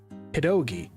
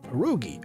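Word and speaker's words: pierogi: it pedogi iso as opposed to perogi or perogi. It's pedogi. So I've always grown up calling them pedogis. didn't know that that was a very specific thing only done in one state in the United States by the Polish population that lives there. I've pronounced it that way my entire life and suddenly people were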